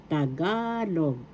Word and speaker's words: Tagalog: That's the big in Tagalog pronunciation. The word tagalog is pronounced excuse me please first syllable ta. Second syllable ga. Third syllable log. Tagalog.